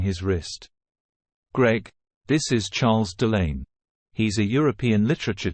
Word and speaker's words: Charles: dear husband she replied Charles pronounced the French way as Charles looked like typical Euro